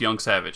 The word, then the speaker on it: Jancewicz: My real name is pronounced Young Savage. It's spelled Jancewicz.